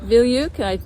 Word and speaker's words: Veilleux: Hey, this is at Her Quiet Passions YouTube channel, and I'm here with Pete Veilleux. Did I say your name right? Yeah. Okay. Rhymes with hey you.